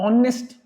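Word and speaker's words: honest: किसके ऊपर है आपका ऑनेस्ट नेस्ट नहीं है नेस्ट नहीं बोल रहे हो आप आप ऑनेस्ट बोल रहे हो ऑनेस्ट ओ से तभी तो कहते हैं एन ऑनेस्ट मैन इसीलिए आर हावर नहीं बोलते एन आर I will be there in एन आर एन आर क्यों क्योंकि फोकस आपकी साउंड का ओ पे है ओ एक वाउल है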